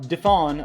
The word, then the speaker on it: DeFawn: The man who was escorted from the airplane, Philip DeFawn, I think the N is silent, but let's just go